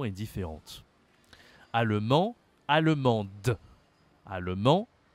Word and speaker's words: allemande: prononciation est différente Alem allemande allemand allemande d'accord ici il faut prononcer le E à la fin la prononciation est différente